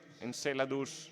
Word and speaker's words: Enceladus: Enceladus es la pronunciación inglesa, encelado sería en latín traer de Encelado fragmentos